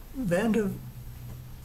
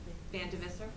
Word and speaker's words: Vandivisser: Vandivision, is that pronounced correct? Vandivisser.